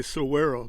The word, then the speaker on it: Saguaro: You spell it Saguaro, but you just say Saguaro. The G is silent.